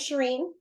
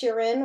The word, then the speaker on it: Shirin: don't know me um my name is Shireen sometimes pronounced Sherin or Sharon however you want to say it um I actually got